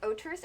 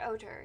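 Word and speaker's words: Otr: Mom once told me a story about Oter. He was a dwarf who could turn into an otter, which, Oter, otter. I guess otter is how you pronounce it.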